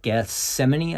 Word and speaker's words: Gethsemane: garden and it's just Garden of Gethsemane I think is how you say it just prior to um